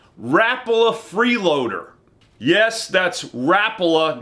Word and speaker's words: Rapala: a freeloader yes that's Rapala not Rapala I used to say Rapala 2 but it's pronounced Rapala you put the wrong emphasis on the wrong syllable the freeloader is a